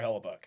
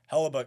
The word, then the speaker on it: Hellebuyck: That's Hellebuyck, I believe his name Yes, Connor Hellebuyck. Hellebuyck. And a lot of people were trying to pronounce his name after he finished that performance.